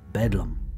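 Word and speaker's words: Bedlam: name the Bethlehem Hospital which came to be pronounced as bedum like many old hospitals Bethlehem Hospital began as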